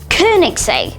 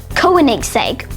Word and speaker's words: Koenigsegg: This Swedish sports car company is pronounced Koenigsegg instead of Koenigsegg or Koenigsegg.